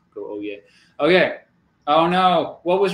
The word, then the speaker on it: Oyez: I always want to pronounce the Z. I think you just go Oyez.